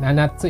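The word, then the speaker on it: 七つ: adalah penggunaan sub Nah di sini bacanya itu Nanat ya nanatsu itu artinya 7 untuk menghitung meja ya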